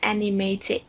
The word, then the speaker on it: animated: giọng khác đọc, còn người Mỹ người ta có khuynh hướng đọc từ này là animated. Animated. Yes, người ta sẽ thay cái từ T đó bằng từ D, nhưng mà chỉ thay